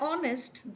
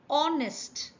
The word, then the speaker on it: honest: An honest, the letter H is silent. So, the word starts with the sound honest.